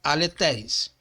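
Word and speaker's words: ἀληθής: Então se fala aletéis. E o neutro também se diz aletéis. Sendo que aqui nós temos um eta e aqui ele foi reduzido a um epsilon. Ok? Mas a pronunciação é a mesma.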